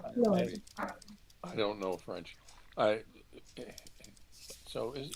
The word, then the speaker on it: Claude: And they're a French company, it should be Claude. Claude? Claude. Gotta pronounce it the French way. Claude.